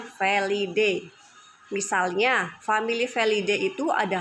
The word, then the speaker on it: felidae: pada famili felidae felidae ya tulisannya felidae Tapi bacanya felidae misalnya famili felidae itu